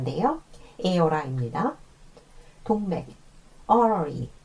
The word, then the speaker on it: artery: 동맥, artery, 아테리라고 발음하셔도 안 돼요. artery예요.